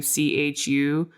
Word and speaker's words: Chu: Again, that's chew spelled like my last name, chu on this blog.